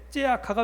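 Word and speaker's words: צְעָקָה: 여기 제가 히브리어 원어의 발음을 적어놨는데요, 미슈파트를 기대했는데 미스파흐가 웬 말이며 찌다카를 기대했는데 째아카가 웬 말이냐, 이렇게 지금 쓰고 있습니다.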